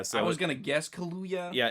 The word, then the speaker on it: Kaluuya: i was gonna guess kaluya yeah it's like a mix of kahlua and hallelujah you know yeah and